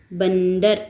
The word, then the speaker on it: बंदर: बंदर न का उच्चारण हो रहा है आधा।